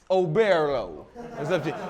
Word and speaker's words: Oberlo: Is it Oberlo? Am I pronouncing that right, Alex? Oberlo.